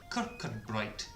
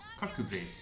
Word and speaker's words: Kirkcudbright: Sort of phonetically pronounced Kirkcudbright. However, in Scottish it's pronounced Kirkcudbright, which is Dumfries and Galloway.